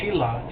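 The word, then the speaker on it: Shelah: ham came Salah Salam known as sheilah in the Bible That's Sheila not Sheila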